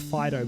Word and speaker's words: Fidough: catch me out, because in my head I still pronounce Fidough as Fidough, and I know it's pronounced Fidough because it's a bread dog.